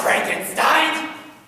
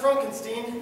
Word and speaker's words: Frankenstein: Transylvania train station Dr Frankenstein Frankenstein don't put no it's pronounced Frankenstein do you also say